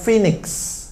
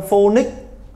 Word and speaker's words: Phoenix: Ví dụ có thành phố Phoenix ở thành ở bang Arizona của Mỹ đúng không? Các bạn đang phát âm phonic, phonic, phoenix. Thế nó có còn là từ phoenix đâu.